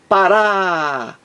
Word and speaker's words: Pará: diferente de para para a sílaba aqui a mais forte é a última é uma oxítona terminada em a veja então aqui o acento tônico está na última sílaba raá Pará Pará aqui aqui está